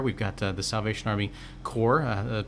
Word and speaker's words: Corps: got the Salvation Army Corps pronounced like the Marine Corps they're at our 525